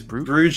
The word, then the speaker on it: Brugge: there because because you you tend to call them equal bruises because bruges is the english pronunciation yeah yeah yeah i